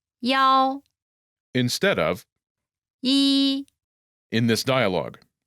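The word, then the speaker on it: 幺: reason the pronunciation of the number one is similar to the pronunciation of the number seven this could be confusing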